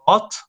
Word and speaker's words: bought: So in this case, we have two letters that don't sound in the words we when we practice or when we pronounce it. It's bought.